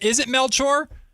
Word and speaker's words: Melchor: Is it Melchor? Yeah, it's Melchor. It's a Filipino name.